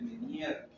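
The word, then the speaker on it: Ménière: Hay un síndrome que se llama el síndrome de menier o enfermedad de menier se escribe como meniere, ¿ya?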